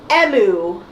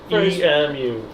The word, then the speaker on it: Emu: in both ways, except in Japanese, it's pronounced Emu. E-M-U.